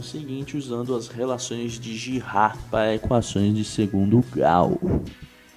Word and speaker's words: Girard: É um método, né, criado por um matemático francês chamado Albert Girard. Assim se pronuncia.